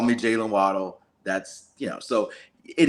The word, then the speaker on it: Waddle: no call me Jalen waddle that's you know so it is true his original last name is pronounced Waddell but he prefers waddle I don't know if he prefers it because everybody calls him that